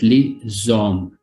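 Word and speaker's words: les hommes: in french la liza here the last letter with the first letter of the following word li zom li zom in arabic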